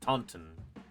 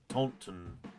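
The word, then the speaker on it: Taunton: Yeah, it would have been shortly thereafter sign that said Tonton, which I presume is pronounced Taton. Tauntton after the meeting.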